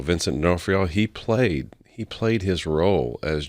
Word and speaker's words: D'Onofrio: Even D'Inferno, I think's how you say his name, on Special Victims, you know, that detective. Vincent D'Onofrio. Yes, Vincent, say his last name again? D'Onofrio. Vincent D'Onofrio.